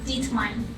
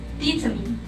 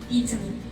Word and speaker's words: determine: People usually pronounce them as determine, which is deter and mine. But the right pronunciation is determine with an I, determine.